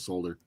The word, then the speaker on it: solder: what toothpicks what's that solder we pronounce uh solder solder instead of solder yeah it's solder even though there is an L in it yep very clearly Donnie